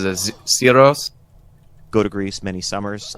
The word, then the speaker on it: Syros: So how he pronounces it, Syros?